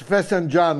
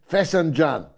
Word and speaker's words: Fesenjan: It's Fesenjan, I call it, but my pronunciation is Scottish working class pronunciation. Fesenjan.